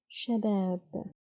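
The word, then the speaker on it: شباب: And it's a noun, so the last letter won't be pronounced with any vowels. Let's try to read it. Sha, ba, ab, shabab, shabab.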